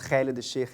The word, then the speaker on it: Khalid El-Sheikh: My name is Khalid El-Sheikh. For those of you that want to try and pronounce my name, it's Khalid El-Sheikh in Arabic.